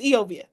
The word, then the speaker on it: Eovia: It's just Eovia. All right. That's just all right. Okay. I always think about Eovia because E rhymes with we.